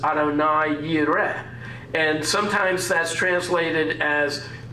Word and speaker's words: Adonai Yireh: In the English, it's frequently pronounced as Jehovah Jireh. In Hebrew, in the song we sang, it was Adonai Yireh.